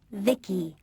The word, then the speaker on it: Vici: by the way i'm vici pronounced vicky my creator was vivisecto